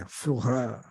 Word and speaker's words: Führer: Führer. That means leader. You're my Führer.